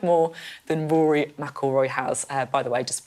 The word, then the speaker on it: McIlroy: I had to learn how to pronounce Rory McIlroy. Yeah, McIlroy.